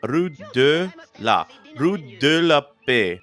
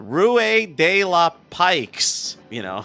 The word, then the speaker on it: Rue de la Paix: I'm going to try to pronounce it correctly in French, but it's Rue de la Paix, which translates to Peace Street. Rue means street in French, and Paix is peace.